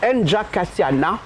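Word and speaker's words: Njakatiana: Et Nja Katiana, bon, on ne prononce pas le A à la fin, Oui, donc on d'accord. dit Nja Katia.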